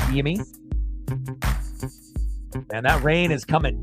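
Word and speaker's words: Yimi: Jimmy spelled with a Y, like Yimmy.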